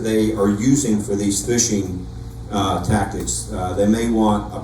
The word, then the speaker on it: phishing: The term phishing is spelled with a PH, but it's much like when you go fishing. You're just throwing something out there and hoping that someone bites.